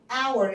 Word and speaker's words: hour: طب صوت الاور الاتش دي ملهاش لازمه، انا بقول اور، الاتش اصلا سايلنت مش بنطقها، فعشان كده بقول an hour.